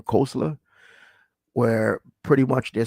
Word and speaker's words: Koestler: I pronounce his name Koestler, where pretty much they're saying that historically the 12 tribes of Israel, right?